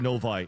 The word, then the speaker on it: Novi: this pronunciation it's not it's not Novi it's no VI but listen get it